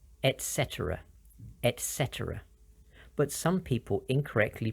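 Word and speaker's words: et cetera: making it Etc but it should be pronounced with a t sound and all three e sounds Etc some examples what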